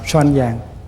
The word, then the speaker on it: Xuanzang: Pronounced Xuanzang.